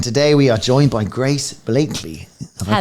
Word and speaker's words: Grace Blakeley: And today we are joined by Grace Blakeley. Have I pronounced that right?